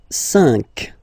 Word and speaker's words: cinq: So you get this q u a, but then the sound that you will pronounce is k, okay? Quatre, quatre. All right, and next, cinq, cinq, cinq.